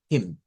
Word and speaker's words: him: Him. Him. Him. Nótese que esta debe sonar como una especie de J. La H en el inglés suena como J.